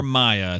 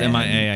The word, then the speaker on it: Mia: Uh, that's from from Mia or Maya. It's Mia. I know it can be pronounced either way.